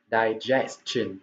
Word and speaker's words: digestion: Digestion đó là sự tiêu hóa. Đấy, và từ này thì rất nhiều bạn đọc bị sai cái âm cuối này, đúng không ạ?